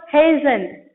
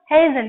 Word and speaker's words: hasten: Next word, hasten. Read everyone. Hasten. The T is silent there.